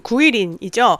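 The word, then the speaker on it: 桂林: 어 중국어 발음으로는 91인이죠.이 이 개림도 드디어 직항 소식이 있습니다.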